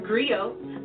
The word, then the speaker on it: griot: share that history with you agree oh it's pronounced griot or in English agree on the West African